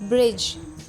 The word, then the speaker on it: bridge: Now the rule is D is often silent in the combination of DG. अब examples देखिए, EDGE, edge, edge नहीं edge, head, badge, bridge, judge, pledge, graze, lodge, smudge, fudge, wedge, gadget, budget, knowledge, dodge।